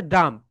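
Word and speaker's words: dumb: কিন্তু এখানে beta silent লেটটা বি কি লেখা বলতো মাই ডিয়ার সোলজারস বি হচ্ছে সাইলেন্ট লেটার বি এর উচ্চারণ এখানে হবে না এখানে রাইট প্রনান্সিয়েশন হচ্ছে ডাম ড্রাম মানে হচ্ছে লিখে রাখো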